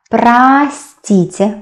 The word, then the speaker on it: простите: Простите, we pronounce а, though you can see о.